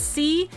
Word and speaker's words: Choux: Like it's C-H-O-U-X. How do you pronounce that?